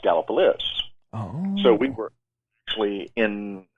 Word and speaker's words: Gallipolis: it's actually spelled galliopolis oh okay but it's pronounced gallopolis so we were actually in uh in the